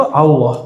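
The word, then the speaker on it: الله: ilallah bukan o juga tapi antara a dan u itu Allah jadi cara baca Allah ini bukan Allah Allah jadi A tapi cenderung kepada u a cenderung kepada u bukan Allah tapi Al Allah bacanya A tapi lidahnya ngarah ke u Allah Coba Allah sekarang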